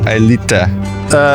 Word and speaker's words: Aelita: I pronounce it Aelita.